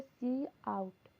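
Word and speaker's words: cout: सी इन से लिखते हैं, सी आउट जिसको प्रोनाउंस करते हैं सी आउट।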